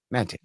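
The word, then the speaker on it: Maté: Mate who is uh it's actually Mate. I always say it wrong. It's just like the name Matt with a a on the end. Mate uh Erin Mate has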